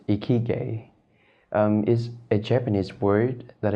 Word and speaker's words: Ikigai: glad to hear that now about the name iki guy how do you pronounce that is it Korean or is it